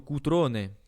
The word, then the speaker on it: Cutrone: On m'a demandé aussi Cutrone. Je prononce à la française, hein. Mais plutôt Cutrone à l'italienne.